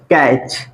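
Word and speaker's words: catch: सी एच कैच कैच अब क्या बताइए कि इस वर्ड में क्या हम टी का प्रोनंसिएशन कर रहे हैं इसमें हम पढ़ रहे टी सी ए और सी को पढ़ रहे कैच सीच को च पढ़ते हैं ठीक है अब इसको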